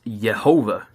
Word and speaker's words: Yehovah: And, the pronunciation to that is Yehovah.